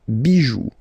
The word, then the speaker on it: bijoux: Pluriel, des bijoux. Okay? Then, un caillou, plural, des cailloux. Okay, remember, you don't pronounce it, the final x.